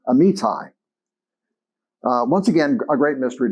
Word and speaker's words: Amittai: So the word of the Lord came to Jonah, son of Amittai, actually pronounced Amittai.